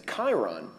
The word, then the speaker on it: Chiron: It's Chiron. K for Chiron. I mean, it's Greek pronunciation, so it's a K sound.